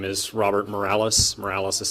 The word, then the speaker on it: Morales: sir come on commissioners my name is Robert Morales Morales is spelt em I are a ll es I'm